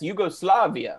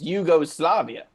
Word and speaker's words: Yugoslavia: of people from yugoslavia i've just never heard anyone pronounce it the way the way you are and so that's it's yugoslavia yes i just never heard anyone put so much emphasis on like you go it's almost like you're